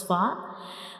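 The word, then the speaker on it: ف: When we pronounce far, the edges of the upper front teeth will touch the inner side of the lower lip. So this is the origin of fa and we will read it like far.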